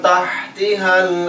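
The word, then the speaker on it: تحتها: ri panjang, tajri min tahtihal anhar, min nun mati di depannya ta tahan, min tahtiha, tahtiha yang pertama ha kecil, yang kedua ha besar, min tahtiha, ingat pelafalannya harus jelas, min tahtihal anhar, anhar,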